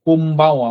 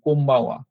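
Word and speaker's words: こんばんは: এটার উচ্চারণ কিন্তু অ্যাকচুয়ালি এম হবে। হ্যাঁ, এখানে এন লেখা। এটা কেন এম হবে? এখানে বি যেহেতু আছে, এটার উচ্চারণ কোম্বাওয়া হবে। হ্যাঁ? কোম্বাওয়া।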